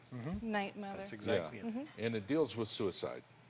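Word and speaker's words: 'night, Mother: is about the show called, how do you pronounce it, Night Mother? Mm-hmm. Night Mother.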